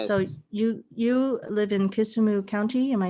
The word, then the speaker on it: Kisumu: that correct yeah so you you live in kisumu county am i saying that correctly yes we